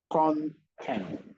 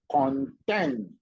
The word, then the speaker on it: content: You don't want to say content, which means all that is contained inside something, instead of content, which means happy or satisfied.